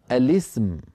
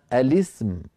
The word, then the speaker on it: الاسم: همزه الوصل مكسوره اسم فلما دخلت عليها لام التعريف ولام التعريف ساكنه لام التعريف ساكنه ف يجتمع في النطق لام التعريف والسين الساكنه لام التعريف والسين الساكنه والعرب لا تجمع بين ساكنين لذلك فانهم يكسرون لام التعريف للتخلص من التقاء الساكنين فيقولون الاسم فيقولون الاسم يعني بلام مكسوره هنا عندنا امر اخر